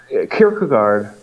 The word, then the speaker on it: Kierkegaard: So Kierkegaard, as the Danish pronounced it, well, I'll just say Kierkegaard or yeah. Either is fine.